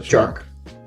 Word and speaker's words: Tjark: Your name is pronounced Tjark, right? Almost. The TJ part of my name, that's pronounced like the ch in chat. Then the arc like Mark. So Tjark. Okay, I see.